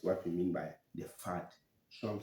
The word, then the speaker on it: FUD: Next one is FUD. FUD. Some call it fat, some call it food. It depends on the tonation, but that's how it's spelled.